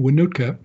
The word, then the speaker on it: Wohnoutka: is and it's a lot easier last name to pronounce than mike's name winootka i live in white